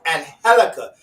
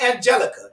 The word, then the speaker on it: Angelica: You have to pronounce the J with an H because she is an Afro Latina. And so she wants you to pronounce it right. It's Angelica. Don't say Angelica. It's Angelica Records.